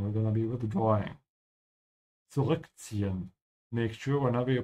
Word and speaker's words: zurückziehen: Zurückziehen. Make sure whenever you pronounce this word, which has two Z's, to pronounce the T. There's a T sound in the Z.